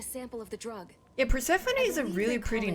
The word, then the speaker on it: Persephone: Yeah, Persephone is a really pretty name. Perspective. And this passcode will give you access to the obviously that's once I found out it wasn't pronounced purse phone.